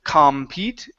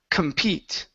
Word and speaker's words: compete: the word compete okay so our stress is at the end of the word so because of that since we have the coom at the beginning we do not pronounce it compete but it is Kum compete compete good one more time